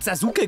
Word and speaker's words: Sasuke: We also said Sahsoukè back then.